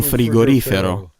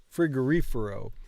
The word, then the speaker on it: frigorifero: Because I always want to pronounce the words, I want to stress the words wrong. And I don't know why. Un frigorifero. Frigorifero. Frigorifero. So the stress is here.